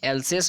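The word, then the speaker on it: Alsace: Spelling आप याद देख लीजिए, एल्सेक का स्पेलिंग ALSSCE, एल्सेक, या फिर कोई इसको एल्सेस भी पढ़ते हैं, और लोरेन LORRAINE, लोरेन, ठीक है।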